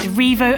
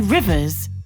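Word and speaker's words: Rievaulx: Its old local pronunciation was simply rivers and slowly changed to revo when education of the community bought a general familiarity with the French language.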